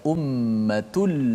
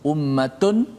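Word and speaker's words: أُمَّةٌ: Ummatul tanwin berjumpa dengan lam. Lam adalah huruf idgham bila gunnah. Maka cara baca itu, tanwin tu dimasukkan dalam lam secara total. Maknanya tidak ada lagi tanwin nun tu. Ummatun dah tak ada dah. Tak boleh baca ummatun la, tak boleh.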